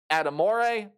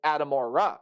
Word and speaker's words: Adamora: You take a look at your safety room, Chris Adamore, however you pronounce that last name again. I apologize. It's Adamora, so let me fix that.